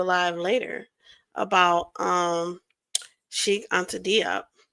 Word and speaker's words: Diop: later about Sheikh Anta Diop, or Job, I think that's how they say it because he's French, is because I was